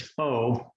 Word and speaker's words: faux: about Fauci's and his faux realm, would have us believe it to be the all. I just thought of another one as well. Foe, as in F-O-E. Oh yeah. Your enemy. Yeah, same pronunciation.